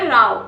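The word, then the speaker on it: row: और ये जैसे काऊ आप प्रोनाउंस करते हो वैसे इसको आप प्रोनाउंस करोगे राव।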